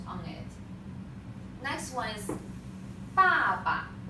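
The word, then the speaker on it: 爸爸: Next one is 爸爸. You see the toneless, the neutral tone. So try to say it very short.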